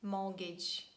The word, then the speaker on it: mortgage: And they are asthma, Christmas, mortgage, soften. The word often can be pronounced in both ways, and we can say often or often.